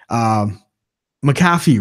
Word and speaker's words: McAfee: Oh, that's not how you say it? McAfee? We say McAfee. Well, McAfee or McAfee. I think McAfee is usually how it's.